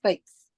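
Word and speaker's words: fête: okay first of all I want f e t s right but that is not English word we have to pronounce FES yes f means some activities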